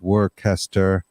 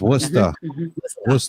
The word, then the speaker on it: Worcester: of leicester up here we have worcester and it looks like it's work hester but it's worcester here from up here